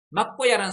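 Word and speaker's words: 藐姑射: 그래서 맞고 살아 할 수 있지만은 이 경우에는 야로 읽어야 된다라고 합니다. 그러니까 맞고 야, 또 어떤 학설을 봐서는 묘고야 뭐 이런 식으로 있습니다. 그래서 일단 맞고야라고 읽겠습니다. 막고야라는 산이 있었는데 막고야 산에 신인이 살고 있는데 앞에 신인이 있었죠.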